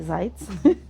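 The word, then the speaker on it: Zajc: Zeitz, de nuevo Zeitz, no digamos cómo se escribe, pero se dice Zeitz, que se llama dos.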